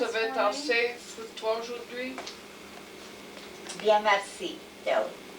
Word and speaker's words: merci: Bien merci, tell her. How do you say Bien merci. it? Bien, merci. Merci. Merci. Merci. Like mercy.